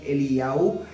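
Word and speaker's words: אליהו: Elías, no se dice Elías, sino Eliyahu.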